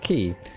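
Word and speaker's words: quay: last copybook exactly yes he is indeed normally pronounced ki the reason behind it interesting little thing like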